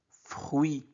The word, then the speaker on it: fruit: Fruit. U-I se prononce oui.